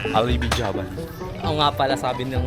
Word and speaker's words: Alibijaban: Yo astig dito sa Alibian Alibi Jaban oo nga pala sabi ng mga ano dito lokal ang tunay na b bigkas dito sa lugar na to is Alibijaban hindi alibian mamaya magti-tiktok kami.